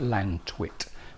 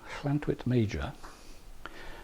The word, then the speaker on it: Llantwit Major: It looks like Lantwit, but it's spelled double L-A-N-T-W-I-T, maybe two T's, I'm not sure. But in Welsh, the Welsh language, when you have two L's together, it tends to be pronounced as ll.